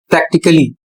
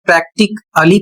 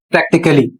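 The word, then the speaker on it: practically: तो इसको सही पढ़ना है प्रैक्टिकली। यदि आप प्रैक्टिकली पढ़ते हैं तो आप गलत पढ़ रहे हैं। इसका सही उच्चारण होगा प्रैक्टिकली।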